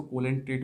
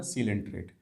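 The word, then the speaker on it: Coelenterata: कुछ बच्चे इसको कोलेंट्रेट भी जो समझ सकते हैं। शुरुआती तौर पर मैंने भी इसको कोलेंट्रेट ही समझा था, लेकिन बाद में जब मैंने इसको देखा तो इसका मतलब ये उच्चारण कैसे होगा, सीलेंट्रेट।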